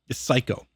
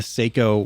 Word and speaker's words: Seiko: Oh, I thought it was literally just like psycho. Like a psychopath. No, I probably pronounced that wrong. I think it's I think it's Seikko. I think that's how you're supposed to say it.